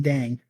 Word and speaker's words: Dieng: Eric, I'm taking Usman Dang.